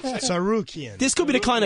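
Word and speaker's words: Tsarukyan: So the co-main event, Islam Makhachev against Arman Tamzarian. Oh, that's how you say it. All right, okay. No, that's not how you say it. No. Sarukian.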